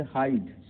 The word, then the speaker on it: hide: अब आइए देखिए साइलेंस ई शब्द के अंत में आने पर, जैसे हाइड। हाइड में HIDE, हाइड, ई इसमें साइलेंट है।